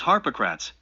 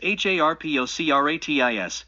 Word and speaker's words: Harpocrates: The name of Harpocrates is Harpocrates, but the mantram is Harpocratis, and then one concentrates.